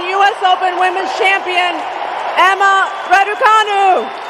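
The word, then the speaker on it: Răducanu: of her family name in romanian is radukanu pronounced radukanu she attributed her mentality and ethics to her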